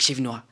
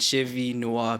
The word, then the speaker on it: Chevy Noir: But what most people do is you try to run through it like Chevy Noir. And I'd appreciate when people like break it up into its segment, Chevy Noir, because that's how it came about.